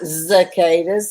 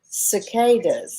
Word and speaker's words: cicadas: zekedas there's a catus they're not zacadas they're cicadas okay well how do